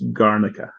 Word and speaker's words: Garnica: heard of it and tell me if I'm pronouncing it right it's garnica yep okay okay and you were saying how